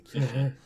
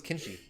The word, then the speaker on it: Kishi: I thought it was a kinshi, which is a way cooler name than a kishi. Yeah, Kishi is kind of whatever. Sounds like a I always thought it was kinshi.